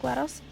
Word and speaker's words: GLaDOS: I personally pronounce it GLaDOS, but we'll get to that later.